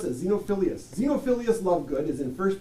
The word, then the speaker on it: Xenophilius: Xenophilus, love God, love good. Love good. How do you pronounce it? Xenophilius.